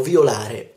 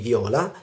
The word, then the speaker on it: viola: e nella seconda plurale l'accento non va sulla o non è io violo tubi ori e gli viola bensì io violo to violi e li viola violare le leggi e